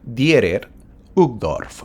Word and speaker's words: Dieter Uchtdorf: El día de hoy veremos dos mensajes, uno de ellos del elder Dieter Uchtdorf, así se pronuncia, o en español vendría a ser Dieter Uchtdorf en español, ¿verdad?